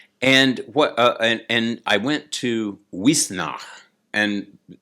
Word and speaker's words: Uisneach: And and I went to Wisnach. and like she is not spelled Shee, it's spelled some other kind of way.